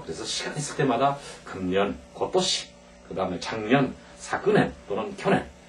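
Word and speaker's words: 今年: 읽을 때 어떻게 읽냐에고 또시 이렇게 얘기합니다 같이겠습니다 고도시 고도시 올해 또는 금년 그래서 작년은 이제 두 가지의 발음이 있어요 하나는 엔 또 하나는 사근 예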